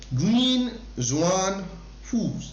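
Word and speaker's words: Nguyễn Xuân Phúc: In January 2023, which country's president Nguyen Xuan Phu, right, that's the pronunciation है ना, Nguyen Xuan and Phu, okay, resigned from his post.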